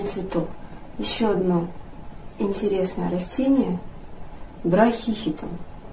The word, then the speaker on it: Брахихитон: еще одно интересное растение браке хитом а может браке хитом а может брать хитон моды теперь здесь стоит ударение на первую букву и значит все-таки браке